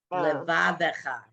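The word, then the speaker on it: לבבך: B'chol Livavcha. So here's it isn't, but that's not your fault. Levavecha. Levavecha. So it has its own syllable, yeah.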